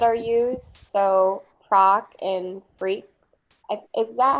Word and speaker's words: freq: stands for procedure and i do say freak so yeah it's spelled differently than usual but that works for me yeah so frequencies proc